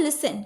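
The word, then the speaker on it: listen: सुनने का मतलब होता है लिसन। क्या होता है? लिसन। लिसन नहीं होता। टी टी साइलेंट यहां पे। ठीक है? लिसन होता है।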